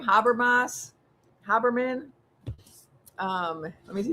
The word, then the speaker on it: Haberman: Um but Habermas, someone put in the comments the the proper way to say the name. Maggie Haberman. Thank you.